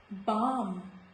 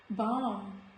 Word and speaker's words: balm: Balm, balm, calm, not calm, calm. So in all these words, letter L is silent.